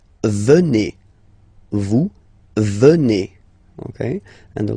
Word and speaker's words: venez: Okay, then classic ending for vous, Z here, and then you pronounce it et, vous venez.